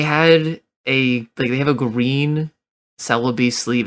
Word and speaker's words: Celebi: It's called Celebi. That one in particular, because of Joe Cerebi is, like, I'm always getting dogged on for saying it like celery, but that's just life, unfortunately.